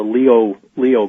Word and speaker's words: Lyot: of Cydonia, called a Leo crater. It's spelled Lyot. It's a French pronunciation, Leo, from a French astronomer.